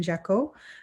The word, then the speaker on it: Jacquot: my name here um it has silent letters so it's jekyll um but linkedin would